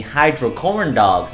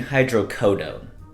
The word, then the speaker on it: hydrocodone: I think you mean hydrocodone. Oh yeah, that is how you say it.